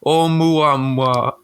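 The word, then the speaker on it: ʻOumuamua: It says, in his forthcoming book, Professor Loeb makes a compelling case for why the object called Umwamba, pronounced Oumuamua.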